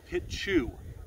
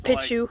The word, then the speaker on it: Pitu: So it's actually P-I-T-U, but it's pronounced Pichu. So Pichu.